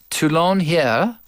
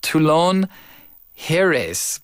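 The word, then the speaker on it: Toulon-Hyères: won the honor and that's my best French pronunciation I just drop a lot of letters that's that's my key to reading French it's like tulon heres but I'm sure they don't pronounce that s right they never do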